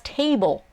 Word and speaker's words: table: the first one that's table so again ignore how it's spelled there's an e at the end you don't pronounce the e just think tae bol those two sounds so t is expressed